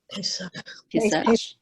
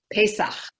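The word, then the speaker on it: פסח: Pesach. Pesach.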